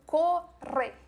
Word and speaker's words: corre: Aqui já vem o ponto de maior dificuldade dos brasileiros, que é a R. Então, corre.